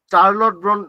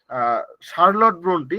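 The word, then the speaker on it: Charlotte Brontë: অধিকাংশ সুযোগ সুবিধা থেকে তারা বঞ্চিত হচ্ছিল তবুও চার্লট ব্রন্ট মানে শার্লট ব্রন্টি বানান গুলো এখানে মিস গেছিল বাংলা ইংলিশ থেকে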